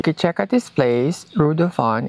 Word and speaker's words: Reudufon: If you guys also want to stay here, you can check at this place, Rudon. It's spelled R U E D U F O N.